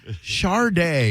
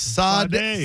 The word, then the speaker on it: Sade: Don't you love it when people inexplicably put an R in Sade's name? Sade. That is so interesting when they do that, because I call her Sade, because that's how you spell it. But but Sade, there's no R. Shar- Shar-day. There's no H. Sade befuddles me. Uh yeah, it is true. It's Sa-day Sa-day.